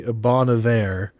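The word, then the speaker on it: Bon Iver: It's supposed to be Bonav. that. It's Bon Ivor. I don't care what anyone says.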